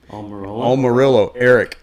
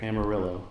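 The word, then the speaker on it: Almirola: Almirillo. Eric with an A, by the way. Amarillo.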